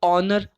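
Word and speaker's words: honour: ऑनर मतलब क्या होता है? सम्मान होता है। तो ऑनर, ओ का साउंड आया, वापस से एन आर्टिकल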